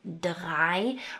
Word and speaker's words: drei: So notice various combinations like the 'ei's that say 'eye' as in 'eins' and 'zwei' and 'drei'.